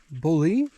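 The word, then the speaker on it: Boole: this is the Bothell well it's spelled b-o-o-l-e -o-o-l-e bully is a French bullet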